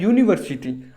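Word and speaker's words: university: से हो रहा है परंतु इसका जो उच्चारण है वो होता है यूनिवर्सिटी अब य से हो रहा है उच्चारण जब उच्चारण य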